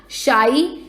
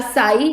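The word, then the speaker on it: psi: Water potential को एक symbol से डिनोट किया जाता है, जिसे हम शाई या साई, जो भी आपको बोलना है आप वो बोल सकते हैं, दोनों प्रोनाउंसिएशंस करेक्ट हैं।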